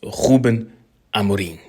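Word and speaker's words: Rúben Amorim: Welcome to Manchester United, or should I say, bem-vindo a Manchester United, to Ruben Amorim, or if you want the Portuguese pronunciation, is Ruben Amorim.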